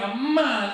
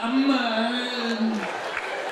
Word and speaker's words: Amman: In the States, I just say Amman. Here, Amman, Amman. So I asked one of the Jordanians, I said, why? What's with the And he said, Habibi, there's an ain in there.